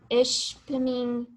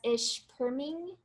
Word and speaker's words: Ishpeming: Okay, so Ben also made a comment that some people pronounce ishpeming as ishperming.